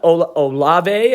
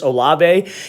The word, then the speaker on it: Olave: this is chris um it's not olave i think that's how you say his last name i was getting ripped